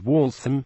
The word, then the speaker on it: Waltham: a m wam though the name of the walam watch was pronounced with a reduced schwar in the second syllable WL THM as most would pronounce in the British way walam when people came to work in the Mills